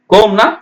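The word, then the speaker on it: comb: சி ஓ எம் பிம் கோனா சீப்பு பி உச்சரிக்க கூடாது ஆனா பி எழுதணும் டி ஓ யூ டி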